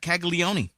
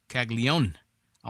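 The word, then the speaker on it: Caglianone: the right fielder, Jack Kaggleone. Kagleon. I'm trying to pronounce Kagleon's name the way I see it. Kagleion. Kagleion. I want to say it was Kagleioni, but I know everybody calls him Kaggleon.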